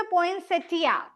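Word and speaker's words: poinsettia: ठीक है, और उसका कॉमन नेम इज पोइंसेटा. कुछ कुछ प्लेसेस पे पोइंसेटिया, कुछ कुछ प्लेसेस पे आई को साइलेंट माना जाता है.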